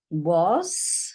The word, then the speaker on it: was: Of, it, was. So I'll go back over this one because this is a tricky word as well. This A is saying a O sound.